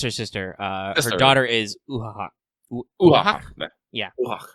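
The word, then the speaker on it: Uathach: Her daughter is Uhahak. Uhahak? Yeah. Uhahak. It's like Skahak, but with an Ua in front of it.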